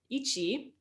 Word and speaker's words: ichi: of basic counting um ichi it's kind of easy to remember because it's like it's like itchy itchy yeah and then we have